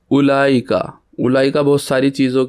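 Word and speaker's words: أولئك: यह बताना है कि उलाईका की अगर आप स्पेलिंग देखेंगे तो अलिफ के बाद उ है तो यह होना तो इस तरीके से चाहिए था उलाईका। लेकिन इसके अंदर वाऊ है तो लेकिन वाऊ प्रोनाउंस नहीं होता। तो इसलिए अलिफ पेश के बाद उला लाम फ़ौरन पढ़ा जाएगा उलाई का।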